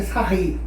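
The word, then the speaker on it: Sarrus: Bom, cálculo determinante, terceira ordem, aplicando a regra de Sarri. A gente escreve Sarros, mas a pronúncia correta é Sarri, correto?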